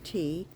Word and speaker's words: Ti: And that's spelled T-I. It's pronounced like the drink tea.